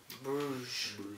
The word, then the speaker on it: Brugge: Club Brugge. Bruges, as French people would say.